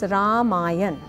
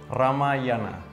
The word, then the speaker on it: Ramayana: the end so it's ramayan ramayana I say ramayan ramayana well I have always said ramayana and um it's hard to change so it's nothing about being right or wrong here it's just different pronunciations and how we are